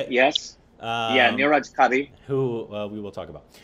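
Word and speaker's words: Neeraj Kabi: And starring Niraj Kabai. Is that how Kabi, you say it? Yes. Yeah, Niraj Kabi.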